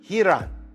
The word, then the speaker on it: Ryron: Now, it's spelled Ryan, but he's from Brazil, and so it's Ryron Gracie.